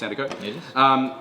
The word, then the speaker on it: Sandercock: always, have to ask, is it pronounced Cock or Co? It's pronounced Co. Thanks, Tash. Yes, this was new for. Yeah, very new for me. And I realised the difference between Sandercock and Hancock. It is Hancock, pronounced Cock. But Sandercock, pronounced Sandercock.